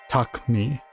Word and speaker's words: Takumi: to be much like the U isn't like a pronounced U. It's more of like a just kind of extension of the K sound.